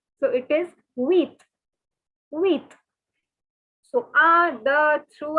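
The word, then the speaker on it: huit: a cactus sang sees the word for seven is set so take your colored pen and circle the p it is not to be pronounced again so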